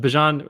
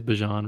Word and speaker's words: Bijan Robinson: So what was it? Bijan, now it is Bijan Robinson, by the way, for anyone that doesn't know. I just want to make sure I pronounce that right.